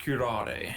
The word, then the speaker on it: curare: It's pronounced curare. Curare. Ah. It's not Japanese.